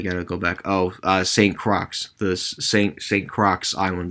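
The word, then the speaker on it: St. Croix: go back oh uh saint crocs this st crocs island that's with an x by the way the x is silent um apparently some of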